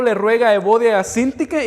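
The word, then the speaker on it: Síntique: Sintique, lleva acento en la I al principio, entonces Sintique.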